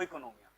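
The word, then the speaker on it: οἰκονομία: थे प्यार से मतलब ग्रीस में ओ इकोनोमिया सही प्रोनंसिएशन है इसका इकोनोमिया ठीक है वो साइलेंट है ठीक है ये क्या है इकोनोमिया बस अच्छा अब इसका मतलब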